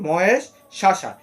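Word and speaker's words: महेष्वासा: মহেশশা। এই মহেশশাটার মধ্যে একটি সংস্কৃত রুল রয়েছে। যেখানে বফলা আছে। এখানে ওকার দিয়ে ওয়ার মত হবে।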